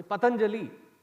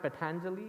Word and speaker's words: Patanjali: no before pani patanjali first of all it is not patanjali patanjali no for god sake you are hindu please pronounce your hindu names properly even your names not for the other's convenience pronounce it as you should be pronouncing it it is not patanjali it is patanjali because there seem to